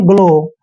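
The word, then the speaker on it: glow: पढ़ते हैं हम ग्लो ग्लो में एक चीज ध्यान रखिए जी के बाद जो है एल आया है क्या आया है जी के बाद एल और एल क्या है कंसोनेंट देखिए पांच वावल है ए ई आई ओ यू इनको छोड़ के बाकी सारे कंसोनेंट होते हैं तोल क्या है कंसोनेंट है इसलिए हमने जी को ग पढ़ना है इसको पढ़ते हैं हम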